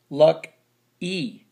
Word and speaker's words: lucky: How do you say that? Luck y. Luck e. Lucky. I'm a lucky guy.